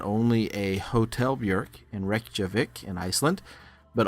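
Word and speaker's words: Björk: I'm here showcasing a recent piece that I did for illustration Friday called bork and berries well I apologize I pronounced that wrong it's buk and berries hopefully you're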